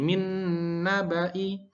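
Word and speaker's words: مِن نَّبَإِ: Jadi min nabai. Hati-hati banya dibaca pendek. Walaupun di sini panjang tapi dibacanya pendek.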